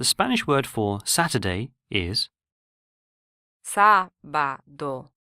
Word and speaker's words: sábado: The Spanish word for Saturday is sábado, sábado, Here the first syllable is stressed due to the written accent rather than the second syllable.